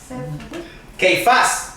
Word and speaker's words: Cefas: Cefas. Keifás, se dice.